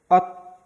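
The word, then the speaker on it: 옷: Nomor 5 yaitu ada konsonan eng gak dibaca, ada vokal o, berarti o, ada konsonan akhir siet. Ini dibacanya apa tadi? T. Berarti ini tuh dibacanya ot.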